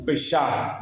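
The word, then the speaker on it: פסח: Ele aproveitou a Páscoa judaica, o Peshá, como se fala lá em hebraico.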